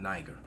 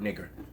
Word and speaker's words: Niger: Or Pescennius Nigger, actually, to be correct, because it's pronounced nigger, not Niger.